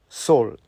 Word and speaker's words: Saul: Saul. It's a very good name, Saul, like a soul, but spelled like S-A-U-L.